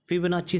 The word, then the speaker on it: Fibonacci: So students, इसकी spelling तो आप जान ही गए, FIBONACCI numbers, but we call it फिबोनाची series.